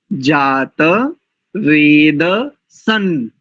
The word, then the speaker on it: जातवेदसं: द्र से विश्वा सूर्यम कई लोग उच्चारण में थोड़ी त्रुटि करते हैं बस उस दृष्टि से तनिक संकेत कर रहा हूं उद तन जात वेद सन देवम दो बार जो अनुस्वार है उसको नकार उच्चारण करेंगे उदित जात वे दसन ऐसा और देव शब्द के ऊपर जो अनुस्वार है इसका उच्चारण मकार की भाति करेंगे तो देखिए पूरे मंत्र